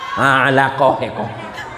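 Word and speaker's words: علقة: Alaqah. Apa bacanya Ustaz?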